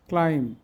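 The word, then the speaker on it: climb: রম থাম নাম lame ক্লাইম succumb ক্যাটাকম প্রত্যেকটি এমবি আছে কিন্তু এর পরে কোন ভাল নাই এজন্য বি উচ্চারিত হয় না এবার অর্থ দেখি জ্যাম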